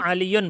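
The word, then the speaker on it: عَلِيٌّ: Itu aliyun bacanya ya, tetap ada tanwinnya. Yuqidu aliyunil misbaha, gitu cara bacanya.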